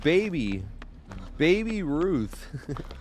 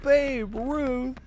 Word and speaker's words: Babe Ruth: Some girl named Baby Ruth. Not Baby Ruth. Yeah, baby Ruth, right? No. What does he say? He says it wrong because they all say it right. They're like, "Babe Ruth.